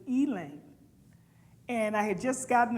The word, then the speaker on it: Elaine: what the Elaine what Elaine she said like the name Elaine's but they pronounced in Ealing and I had just